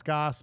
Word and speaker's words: Gass: Twitter at Empire gas my last name g-a-s-s pronounce Goss but we gotta get